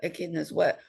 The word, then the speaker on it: echidnas: Is that how you pronounce it? Echidnas.